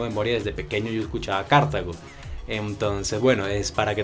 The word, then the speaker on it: Cartago: en cuenta que si a partir de ahora va a decir cartago e intentarlo por lo menos porque esa es la pronunciación correcta en nuestro idioma español ver mi carita feliz